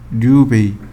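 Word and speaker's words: 立米: 해배, 루베라는 단어가 나와요. 해배, 루베. 이거 일본식 발음입니다. 헤이베, 류베이. 헤이베, 류베이. 이렇게요.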